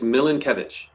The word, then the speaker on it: Milenkiewicz: Nathan, uh, I think I'm I mispronounced your surname. Can you correct me please on that? Oh, yeah. It's Milan Kevich. Milan Kevich. Milan Kevitz.